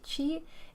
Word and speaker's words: chi: mhm I just like pronouncing it chi chi is the letter X in Greek X is the ks sound doctor I'll ask you